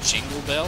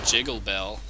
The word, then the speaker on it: Jiggle Bell: glasius pointed out that one of the combos I've been mispronouncing as Jingle Bell was actually jiggle Bell so well it's understandable